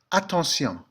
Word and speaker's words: attention: Attention in English simply takes on a different pronunciation. Attention.